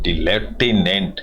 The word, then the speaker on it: lieutenant: And jobs and दी लेफ्टिनेंट general, इसको लेफ्टिनेंट की spelling बड़ी टिपिकल है, आप भी इसको पढ़िए, LIEUTENANT, लेफ्टिनेंट, इसको बोलते हैं लेफ्टिनेंट भी कहते हैं, लेफ्टिनेंट भी कहते हैं।